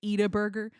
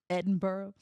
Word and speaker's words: Edinburgh: over and over again Grant mispronouncing the town he was in he calls it EAB Burger yeah Edinburgh edenburg edenburg yeah then